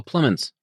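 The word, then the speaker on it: Plemons: pronounce his last name oh oh plens plens not pan yeah plens fantastic that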